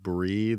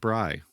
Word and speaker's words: Bry: So, Bry, the goddess of invention, we were pronouncing her like brie, the cheese. Oh, darn. Um but it's actually pronounced Bry. Okay. Like Bryt without the T.